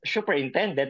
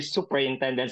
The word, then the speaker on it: superintendent: time I'm asking them it should not be pronounced as superintendent because I I don't know if there's a shoe in there but I believe that's that should be superintendent so that's why I'm